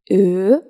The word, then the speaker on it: Ö: Next, we have Ö, Ö, Ö, or O Umlaut. This is pronounced like the word flirt in English.